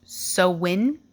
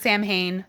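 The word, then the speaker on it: Samhain: while I was researching I read that it's actually pronounced sowin sawin I don't know I've always heard Sam Hayne someone fact check please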